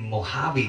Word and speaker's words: Mojave: pronounce is the uh it pronounces the j with an h so we'll be like mojave desert mojave desert in